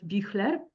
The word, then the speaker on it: Büchler: Ralph Büchler, if I pronounce it correctly in German.